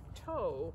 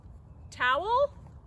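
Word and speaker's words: Thao: Toe? Not even close. Who has a name Toe when it's spelled T-H-A-O? Eventually, I learned to recognize the names people give me. Towel?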